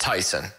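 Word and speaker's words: Taisun: i've looked it up so it's t-a-i-s-u-n that's pronounced tyson and p-h-o-m-m-a-c-h-a-n-h it's tyson pumachon really tp tyson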